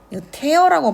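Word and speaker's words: tear: 어 여기 and이 테어라고 발음하거든요. 티열은 눈물이고 태어은 찢다라는 뜻이 있죠.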